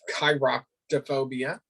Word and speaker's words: chiroptophobia: It's chiroptophobia is how you actually pronounce it. So it's K long I.